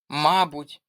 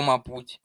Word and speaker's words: мабуть: Наприклад, мабуть або мабуть, тут подвійний наголос.